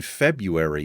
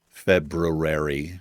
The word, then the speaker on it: February: like that as well in February is the weirdest it has like the silent R it's the weirdest word to me February it's it's how it looks like it's spelled any he to figure